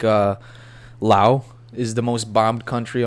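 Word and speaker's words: Laos: this word La is pronounced Lao without the S I'll ask Hayden's girlfriend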